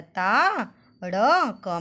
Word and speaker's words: ताड़का: तो आप सभी मेरे साथ त में आ की मात्रा ता, ड़ क में आ की मात्रा का, ताड़का।